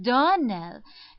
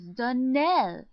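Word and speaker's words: Donnell: Clarissa Myra told me that you pronounced our name Darnell. Now, Miss Shirley, the correct pronunciation of our name is Darnell. Accent on the last syllable.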